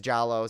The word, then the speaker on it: giallo: venice and it's 1979 you know what i say it differently every time i know it's jollo some people say giallo